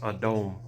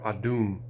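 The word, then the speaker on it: אדום: It's pronounced Adom or Adum. It is spelled Aleph Dalet Ua Mam. A Da Wa Ma. The Wa makes an O sound when it is not the first letter of a word.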